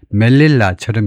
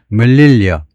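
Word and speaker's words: Melilla: 이게 멜릴라처럼 읽을 것 같지만 라틴 같으면 멜릴라라고 읽는데 스페니는 멜릴리어 멜릴리어라고 읽습니다.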